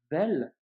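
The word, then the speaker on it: ذال: En revanche, quand tu prononceras la lettre vel, eh bien, ta langue doit sortir légèrement et tu dois la faire toucher tes dents, tu vois.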